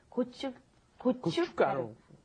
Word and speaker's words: 고춧가루: There's a shiat that's in there, and it's not pronounced. So when you look at it, it looks pretty hard to pronounce. But 고춧가루.